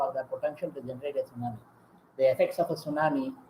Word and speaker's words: tsunami: The tsunami, pronounced tsunami is a natural phenomenon